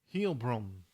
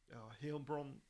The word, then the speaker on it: Heilbronn: For 16 years, German police chased an elusive female serial killer known as the Phantom of, how do you pronounce that? Phantom of Heilbronn. Heilbronn, as the same female DNA was found at 40 crime scenes, including 6 murders.